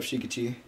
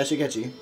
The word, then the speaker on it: Shigechi: Alright, shut up, Shikachu. Shikachu? I don't remember. How do you pronounce it? Shikachu? Oh, Shigechi? Yeah, Shigechi. That. I thought you said Shikachu, like...